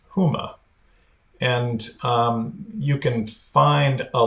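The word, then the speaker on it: Hema: has introduced a new retail comp concept it's pronounced Huma and you can find a link to it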